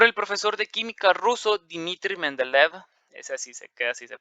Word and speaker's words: Dmitry Mendeleev: de Newland, por el profesor de química ruso Dmitry Mendeleev. Así se pronuncia.